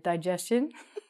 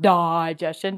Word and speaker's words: digestion: Digestion, Not digestion. Don't say it like that.